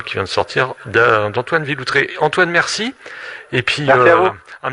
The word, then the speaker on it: Villoutreix: Antoine Villautré. Alors on vous rappelle, si Villautré ça s'écrit VILOUTREIX.